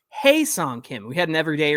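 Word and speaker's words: Ha-seong Kim: Kim Mike's getting me to say hi song that's not how you say it it's hey song Kim we had an every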